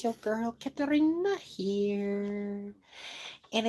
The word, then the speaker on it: Katarina: Um, cuz people think it's Karina, but actually it's not. It's Katarina. But a lot of people cannot roll their ars.